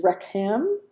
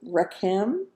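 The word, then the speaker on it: רחם: Our next word is Rechem. Rechem. It means womb or compassion. Number 7358. We spell that Resh Het Mem. Resh Het Mem. Got that CH sound in there. Hek, mem. Rechem, rechem. Our last word is tazon.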